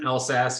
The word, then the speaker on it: Elszasz: Yeah, so my name's Elszasz. You pronounced it fine. Just pretend the Z's aren't there.